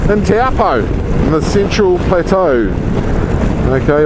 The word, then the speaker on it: Taupo: Moto, who is from Taupo, or as a lot of lazy people pronounce it, Taupo, in Taupo, in the Central Plateau.